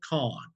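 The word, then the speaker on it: Cohn: Then he brings in a well-known attorney general, actually, out of New York, whose name is Roy Kahn. That's spelled C-O-H-N.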